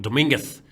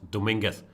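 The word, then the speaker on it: Domínguez: People are saying Dominguez is not Dominguez, but Dominguez. I guess it depends where you're from. In Spain, in most areas, it's certainly Dominguez. It could be that Linier in Cuba, I do not know that. It could be that they don't go for the sound there, but he pronounced it Dominguez. That I do not know. In Spain, where it's a very common surname, there it's certainly Dominguez. Yeah.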